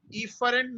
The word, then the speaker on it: efferent: Efferent neuron.